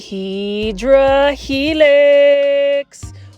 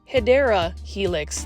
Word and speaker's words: Hedera helix: your collection and then here is a HRA helix or the correct way to say it is hedera Helix the English ivy this